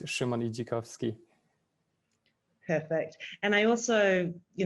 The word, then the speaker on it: Szymon Idzikowski: think you've done a great uh great job pronouncing it but it's shimoni jakovsky perfect and i also you know severely paraphrased